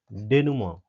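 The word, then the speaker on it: denouement: अगला वर्ड है अगला वर्ड है डेनुमोन। डेनुमोन। इसका प्रोनाउंसिएशन क्या होगा दोस्तों? डी ई एन ओ यू ई एम ई एन टी। तो इसको प्रोनाउंस प्रोनाउंस क्या करेंगे? डेनमोन।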